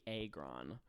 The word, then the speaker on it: Agron: Oh, we looked it up while we matched, and it's actually Agron. So I apologize for oh my god. Uh-oh. Dianna. To Dianna Agron Agron. for pronouncing your name wrong all these years.